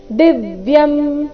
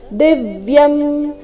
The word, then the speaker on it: ದಿವ್ಯಂ: ಭವಾನ್ ಪುರುಷಂ ಶಾಶ್ವತಂ ದಿವ್ಯಂ ದಿವ್ಯಂ ದಿ ಮೇಲೆ ಆಘಾತ ದಿವ್ಯಂ ಆದಿದೇವಮಜಂ ವಿಭುಂ ಆದಿದೇವಮಜಂ ಅನುಸ್ವಾರದ